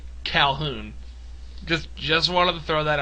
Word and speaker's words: Calhoun: I refer to her as Colhan for whatever reason, but it's actually Calhoun.